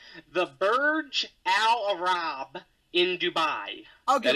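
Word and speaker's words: Burj Al Arab: able to correctly solve this puzzle with my pronunciation the Burge Al Arab in Dubai I'll correct I'll give it to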